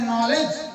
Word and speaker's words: knowledge: आप लिख रहे हैं नॉलेज, आप लिख रहे हैं नॉलेज KNOWLEDGE, शुरू कर रहे हैं के से लिखना लेकिन पढ़ रहे हैं न से।